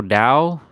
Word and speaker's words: Tao: That's why they say in the eternal Dao, if you can speak the eternal Dao, then that's not the eternal Dao. Either you call it Dao or Tao, it doesn't really matter.